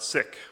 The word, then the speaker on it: Sikh: heard from Valerie before she uses the traditional Punjabi pronunciation of sick for her faith and we're going to